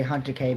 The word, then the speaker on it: Hatake: It in Japanese you say hunter K but in English you'd say field.